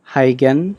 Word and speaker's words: Huygens: just pronounce this as hygiene though that dutch pronunciation of this is difficult how can so i'll